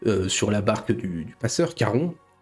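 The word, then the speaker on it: Charon: Vous Caron, vous m'excuserez de la prononciation à la française. Je ne parle pas le grec ancien. Je crois que c'était plutôt un espèce de de cas aspiré, voir pas prononcé, mais peu importe.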